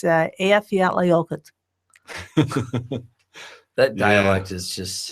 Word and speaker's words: Eyjafjallajökull: The volcano that erupted in 2010, it took me about 100 times, but it's Eyjafjallajökull.